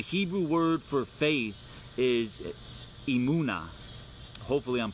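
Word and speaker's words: emunah: So the Hebrew word for faith is emuna. Hopefully I'm pronouncing that right. I didn't get to hear it before I went live. But it's emuna, emuna, E-M-U-N-A-H, emuna.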